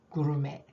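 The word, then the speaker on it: gourmet: 마이크로웨이브 이거지요 전자레인지 마이크로웨이브 구루메 들어보셨나요 이것도 프랑스 말이라서 끝에 티 자음 발음 안 해요 메 구메 고급요리가 an adventure 모험이라고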